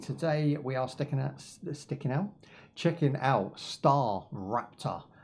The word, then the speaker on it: StarRupture: Today we are checking out StarRupture. It's pronounced Rapture as in the Rapture, okay, not Raptor as in the Raptor.